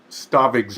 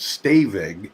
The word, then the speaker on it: Stavig: be by the way i mispronounced mr stavig's name i think i said staving you got it right uh so if mr